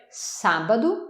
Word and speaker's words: sábado: Le week-end, on va dire sábado. Donc samedi, sábado. Attention, il y a un accent. Et où il y a un accent, c'est la syllabe forte.